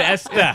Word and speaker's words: Esther: We pronounce it Esther. What's with the H?